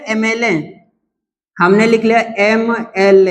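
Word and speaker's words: MLA: चलो जैसे अगर हम लिख ले एमएलए हमने लिख लिया एम एल ए होते है ना एमएलए सुने हैं अब अगर एमएलए देखते हैं तो भैया एमएलए भी देखने में कैसा है कंसोनेंट है कि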